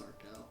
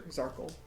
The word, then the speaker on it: Zarkal: I thought it was Sarkel. Zargat. Zarkle? Sure, Zarkle. Circle? Circle. Like a circle, but with a Z.